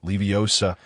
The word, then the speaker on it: Leviosa: Leviosa, notwingardium, leviosa. The pronunciation is drawn out and precise."